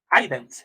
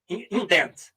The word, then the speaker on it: indent: Pode escrever assim, indent, ident, recuar, né? Ident. Como é que é a pronúncia disso? Indent. Não é ident, é indent.